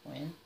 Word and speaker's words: Wynne: You know, I wouldn't have thought that's how you say her name, but that's cool, Wynne.